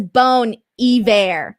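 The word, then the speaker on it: Bon Iver: okay we got it taylor elaine says that's bone ever yes see so i was right this time the ones i was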